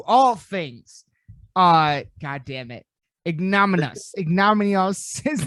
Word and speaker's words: Ignominious: Ignominious is not God. Ignominious. Ignominious. Thank you. There I we will go. get it right eventually. Ignominious.